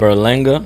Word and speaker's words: Berlanga: Berlinga. Berlanga. Mhm. You should know. How does it go? How do you say it? You just said it. Berlanga.